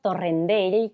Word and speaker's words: Torrendell: Pronunciaste mi apellido como se pronuncia en Cataluña. A la perfección, porque es mallorquín, ¿cierto? Exactamente. Así que lo he pronunciado como se debe.